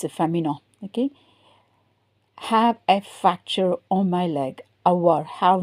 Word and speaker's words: fracture: A fracture, avoir une fracture. The pronunciation is different. Une fracture.